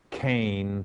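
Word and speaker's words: חן: Well, grace, as translated from the Old Testament, is from the Hebrew word kane, phonetically spelled out K-H-A-N-E.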